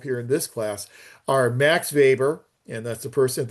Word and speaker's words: Max Weber: So Max Weber, and it's pronounced Max Weber because he was a German sociologist, and so the W is usually pronounced as a V. So Max Weber, Frederick Taylor, and Luther Gulick.